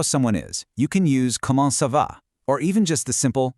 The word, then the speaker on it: comment ça va: When spoken quickly by locals, comment ça va doesn't sound like three clunky separate words. It runs smoothly together into one sound, comment ça va. It just flows seamlessly off the tongue.